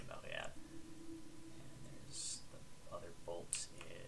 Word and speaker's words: Montréal: Montréal, if you're Quebecois, if you want to say it properly. You don't have to. No one's gonna yell at you if you don't. But if you want to say it properly, you know, if you choose to do things correctly, you can say Montréal.